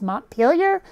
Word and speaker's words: Montpelier: French I mean obviously the capital of Vermont is Montpelier Montpelier or whatever the it's supposed to be in fact I think they're not pronouncing the T comes from being so close to the French speakers but at the same time nobody